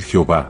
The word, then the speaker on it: Yahweh: estudiosos concuerdan en que la pronunciación más cercana a la verdad pudiera ser llave, según algunos y otros piensan que lo más acertado es decir Jehová, ya que al traducir